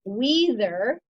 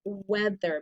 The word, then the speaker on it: weather: It should be weather, but it's weather because that EA has a short vowel sound.